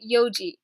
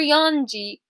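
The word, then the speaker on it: 四時: So basically you take that n out and you say yoji. So again, it's yoji. Never yonji, yoji. Yoji is correct, yonji is incorrect.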